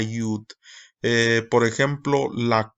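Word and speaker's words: יוד: Por ejemplo, la yod, que aquí todavía vemos que dice yod, se cambió a yud.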